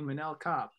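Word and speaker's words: Manel Kape: feel really good because the first time you talked about mannell copp i pronounced it wrong so hey it's apparently manila cop no he disappointed hart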